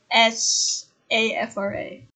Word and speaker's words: SAFRA: with you for the s a f r a second annual flight africa awards afro that's how it's pronounced safra yeah honestly i enjoyed